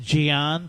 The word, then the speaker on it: Jian: And that's I think it's pronounced Jian, but it's a J, not a G.